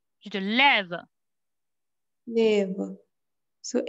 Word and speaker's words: lève: Tu te lèves vers 10 heures samedi. Te lèves vers 10 heures samedi. Tu te lèves vers 10 heures samedi. Tu te lèves. You don't need accent, right? Tu te lèves.